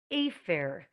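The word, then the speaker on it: אפר: The word for ashes is afer. Afer, spelt with an aleph. So they sound very similar.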